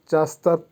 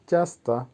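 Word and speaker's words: часто: চাস্তা, চাস্তার অর্থ হবে প্রায়ই। উচ্চারণ হবে চাস্তা।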